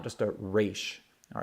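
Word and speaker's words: ריש: any sort of accent, you want to say it resh, resh. Okay, and I'm sure different communities in the Jewish world pronounce this letter differently, but for the most part, it seemed like modern Israelis pronounce this as resh.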